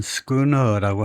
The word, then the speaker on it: schooner: 속도가 빨랐고 그다음에 상대적으로 많은 선원을 필요로 하지 않았기 때문에 그래서 발음은 스크너라고 할 것 같네요. 우리말로 스크너선 하는 거 보니까 신너가 아니고 스크너 그다음에요.